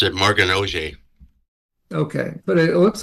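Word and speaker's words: Oger: I usually pronounce it Morgan Auger.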